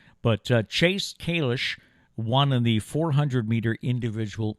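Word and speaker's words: Kalisz: I believe they're pronouncing it Kalish. You and I would look at the name as, around here, we'd say Kalis, because it is spelled just the way the former mayor spelled his name.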